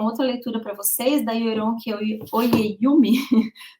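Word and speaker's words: Oyèrónkẹ́ Oyěwùmí: E aí eu quero indicar uma outra leitura para vocês, da Yoronke Oyeyumi, o nome dela é super difícil de pronunciar, mas é Yoronke Oyeyumi, e que ela fala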